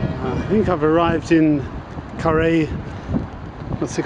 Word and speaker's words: Carhaix: I think I've arrived in Carhaix. What's it called? Carhaix Plugeur. The H is silent in Carhaix, as in Carhaix, hip hip Carhaix, except doesn't look all that prepossessing.